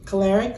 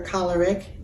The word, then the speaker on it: choleric: The second one being choleric or choleric, can be pronounced both ways.